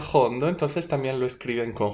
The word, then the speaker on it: jondo: musical dices pues señores el cante jondo fondo sería hondo en español con h pero con acento andaluz se pronuncia fondo entonces también lo escriben